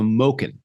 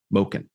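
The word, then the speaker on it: մուկն: flim not butchering that but in the phonetics it's it's supposed to be ow as in oh no sorry low so moken moken the ow is in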